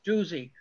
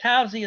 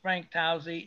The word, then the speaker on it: Tousey: may know this, that Eddie LeBlanc insisted on pronouncing Frank Towsey's name as Frank Tuzzi. He said Frank Tuzzi as long as I knew him, and Randy Cox does the same thing, but I think that Towsey is correct.